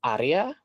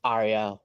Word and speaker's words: Arya: Well, the correct way to pronounce my name is Arya. Like you roll the R, but I usually just tell them at Arya, like, you know, like so it's easier for people.